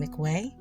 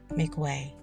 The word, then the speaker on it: McWeay: I believe they are pronouncing his last name McWeay.